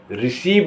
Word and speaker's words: receive: RECEIVE रिसीव माने लेना। DECE डिसीव माने धोखा देना। ओ के उच्चारण के नियम आपको बताने वाला हूं।